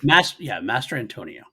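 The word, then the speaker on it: Mastrantonio: Mastratan Master. It is funny you say that. It is Mary hard. Elizabeth. Master Antonio.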